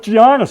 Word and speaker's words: Giannis: G is silent.